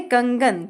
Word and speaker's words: कंगन: अब ये आया है कंगन कंगन में हमने इस अनुस्वार को प्रोनाउंस किया है ग के रूप में अब ग कैसे आया